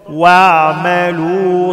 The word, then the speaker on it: واعملوا: الرسل كلوا من الطيبات واعملوا الالف لا تنطق واعملوا صالحا اني اني اني